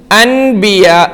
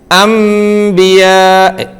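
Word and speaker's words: أَنْبِيَاء: കേൾക്കുന്നു അതിലെ അൻബിയാ അബിയാ അൻബിയ ആണ് എഴുത്തിൽ കാണുന്നതെങ്കിലും പറയേണ്ടത് എന്താണ് അമബിയാ അങ്ങനെ ആ കഴിഞ്ഞ് സ്വരം ഏതാണ് മീമിന്റെതാണ് അപ്പോ അമബിയ അല്ലാതെ അനോ എസ് നമുക്ക് വേറരു ഉദാഹരണം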